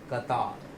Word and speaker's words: Qatar: इसका सही प्रोनाउंसिएशन होगा कतार. क्या होगा? कतार. अक्सर लोग इसको गलत प्रोनाउंस करते हैं और वो इसको प्रोनाउंस करते हैं कतर. क्या प्रोनाउंस करते हैं वो? कतर.